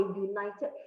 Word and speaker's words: united: front because you see the u here is pronounced as y-o-u but you sound it as the letter y and the letter y